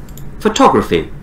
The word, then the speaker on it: photography: photograph photography photography ah here in American you can't say dare and I have made a video on that because it's stressed when T is a stressed you can't change it to death so you have to say photography exactly like you're British photography photographic photographic photographic